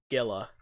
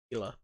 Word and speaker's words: Gila: Gila, yes. It's not Gila. Gila.